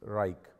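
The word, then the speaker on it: Wrike: really worked for me is besides outlook is reich and it's spelled w-r-i-k-e what you can do is you can actually create a follower in reich so let us say i want to send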